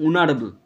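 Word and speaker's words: honourable: এর মত না হলে এন বসে তাহলে এর উচ্চারণ হচ্ছে অনারেবল তার মানে হয় এর মত হয়নি তাই এন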